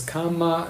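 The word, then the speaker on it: kamma: In Pali, they are pronounced a little bit different because Pali lacks the letter R. So sutra is sutta, karma is kama, nirvana is nirvana, and dharma is dhamma.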